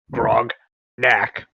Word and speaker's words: Grognak: Hard G. Grognak. Grog as in ale, knack as in like knickknacks. Grog like the drink.